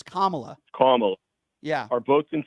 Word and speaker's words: Kamala: don't you pronounce her name right? It's Kamala.